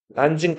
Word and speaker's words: 난징: 그리고 여기 상하의 바로 위에 남쪽의 수도 남경이 있는데 남경을 자 중국어로 읽으면 난징이라고 읽어요. 난징 대학살 혹시 들어봤나 모르겠다.